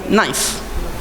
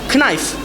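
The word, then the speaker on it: knife: هناك أحرف تكتب ولكنها لا تنطق، فالأصل هو المنطوق، تمام. الأصل هو المنطوق المسموع. يعني بعض الناس إذا قال هذه كنايف كي فيها، يقولون لا غلط، ما يقولون كنايف، يقولون نايف سكين.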